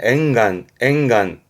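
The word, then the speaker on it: 沿岸: 발음은 앵간.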